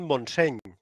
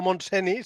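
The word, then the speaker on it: Montseny: porque ha pronunciado bien monsen en catalán es no monseni sino Monse o sea ahí he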